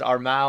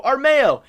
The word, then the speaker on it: Armao: did not know that i thought it was armao i just looked at it's like a-r-m-a-o i was not trying to pronounce that so armeo is uh gonna be the jungler